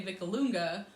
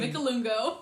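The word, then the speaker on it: Vicolungo: And for people back home, I know Tony would always say Vicalunga, but with how it's spelled, it ends in an O. So we say Vicalungo.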